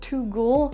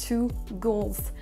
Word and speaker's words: goals: De nouveau, on entend aussi I score 2 goals au lieu de 2 goals. Là, il faut bien aussi prononcer le S, qu'on a 2 buts et non un seul.